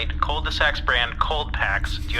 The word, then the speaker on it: Colds-de-sack: get the brand name Colds de-sack? (Transcriber’s note: Pronounced like cul-de-sac, but with “cold”) NERMUT: Yes, I can request Colds-de-sack cold packs /and/ cold sacks.